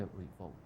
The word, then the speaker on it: revolt: If it is used as a verb, then we place the accent on the second syllable. The revolt.